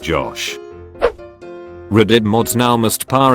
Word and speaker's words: Gosh: It's pronounced Josh.